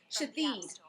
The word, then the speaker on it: Shithead: That's what it says. But it's pronounced Shatheed. Shateed?